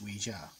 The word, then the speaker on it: Ouija: actual board game actually it's not the actual pronunciation is Ouija but that's nitpicking you want to call it Ouija go for it and there is I have